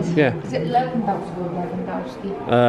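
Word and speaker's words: Lewandowski: Is it Leandowski or Leandowski? Uh, it's a W, but because he's po I think he's Polish. Yeah, he's Polish. Yeah, it pronounces it with a V. So, it's Leandowski.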